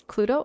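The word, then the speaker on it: Cluedo: Cludo. Am I pronouncing that correctly? It's Cludo.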